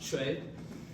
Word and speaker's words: Choi: Lieutenant Colonel Choi, or as I learned is pronounced Choi in Korean.